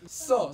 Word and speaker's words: 써: 마음이 다쳐서 숨도 못 쉬겠어 할 때 써, 써, 써 S-E-O, 써, 써 S-S-E-O.